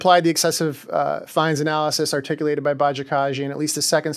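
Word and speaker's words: Bajakajian: And I think that was a very good pronunciation of that case, Bajikasian.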